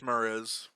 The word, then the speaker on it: Muriz: Is that how you say it, Mariz? Yeah, it's Muriz.